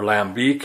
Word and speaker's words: Lambic: there's bread amyes they're for Lambic or lambiek if you want to pronounce it uh more professionally but the main thing